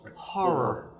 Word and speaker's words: horror: I know uh you got to be careful it's two syllables horor Cheers Cheers uh oh